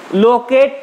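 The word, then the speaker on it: locate: এখানে লোকেটই বললে হবে না কিন্তু, কারণ হচ্ছে আমরা জানি কোনো শব্দের শেষে ই থাকলে সেটা উচ্চারিত হয় না ইংরেজিতে অ্যাজ ইউজুয়াল। এটার উচ্চারণ লোকেট তুমি বলতে পারো, সমস্যা নেই, তবে এটা টান দিতে হবে, স্ট্রেট সিলেবল।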